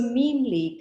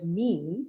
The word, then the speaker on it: meme: So memely comes from the word meme, which is spelled M-E-M-E, but we wanted to put it in a way that everybody could pronounce and not call it mem.